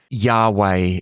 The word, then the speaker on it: Yahweh: So Yahweh is generally the way that we pronounce this is pronounced.